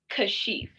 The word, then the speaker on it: Kashif: we get into it it's kashif is the correct pronunciation of my name thank you so much